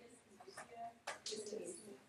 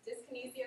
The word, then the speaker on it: dyskinesia: How do you say dyskinesia? Dyskinesia is fine, or dyskinesia. Just the Z.